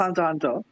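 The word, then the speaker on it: Hunter × Hunter: the X is silent. It's just It's Hunter Hunter.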